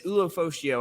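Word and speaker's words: Ulofoshio: It is Ulofocio. I know for sure.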